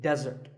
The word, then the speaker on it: desert: not be confused with desert here the stress is on the first syllable which is De desert now I said the